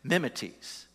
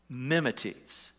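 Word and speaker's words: μιμηταί: word imitator in verse six the greek is pronounced memetes memetes and that is whether we get the word mimic so paul reminds the thessalonians you became mimeties mimics of us and jesus in other words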